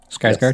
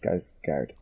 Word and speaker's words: Skarsgård: And and all the kind of like even the stuff with like Stargard. What's it? Is that how you pronounce his name? Skarsgård. Yes, Skarsgård.